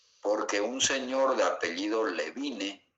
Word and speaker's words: Levine: Porque un señor de apellido Levine, que se lee Levin, que se pronuncia Levin, fue el que estratificó las características del soplo de acuerdo a su intensidad.